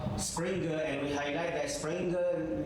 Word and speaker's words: Springer: and we highlight that springer is not spring it's it is a springer because it's a German words and I give you example springer spelled like burger and I told you I'll